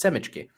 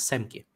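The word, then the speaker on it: семки: or as so the favorite of Boris says, Semichki. No, that is actually the correct way to say it is Semki.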